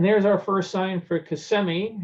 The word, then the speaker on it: Kissimmee: our first sign for kissimmee which i imagine lots of people were learning to pronounce and that it was not kissimmee and 192 we're gonna